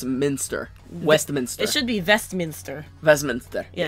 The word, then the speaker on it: Westminster: Westmont it should be vest Minster residence there yeah it should be with a V because the other thing